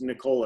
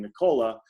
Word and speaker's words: Nikola: and it is pronounced nikola i got some clarification it's nicola excuse me it's pronounced like the ricola the cough drop so i should be saying nicola it's not nikolai which